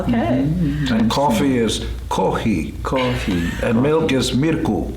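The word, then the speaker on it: コーヒー: And coffee is kohi.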